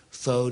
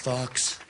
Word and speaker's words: faux: I'm now calling it faux news. It's much classier if you think about it. Very classy. Spelled F-A-U-X. And it's not pronounced Fox.